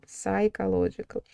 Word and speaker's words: psychological: Да, поэтому здесь должно быть psychological. Такое длинное слово, не забывайте его еще и произносить правильно, да. Пи не произносится.